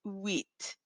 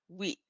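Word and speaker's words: huit: previous uh recordings the the letter H in French sometimes acts as a vowel and in this case where it acts as a silent letter it's called an ash mu and so because of that we're really not saying it it's wheat it sort of makes that very Silent Sound wheat the next number is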